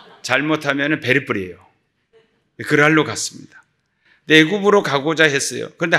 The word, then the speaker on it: 그랄: 발음을 잘했는데 지랄이 아니고 그랄입니다. 잘못하면 베리뿔이에요. 그랄로 갔습니다.